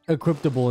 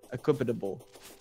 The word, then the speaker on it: equipable: you said you see you said it wrong and then that messed equable equipable equipable dude I love this